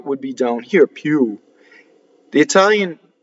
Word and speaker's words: più: This I is invisible. It's just a semivowel. più.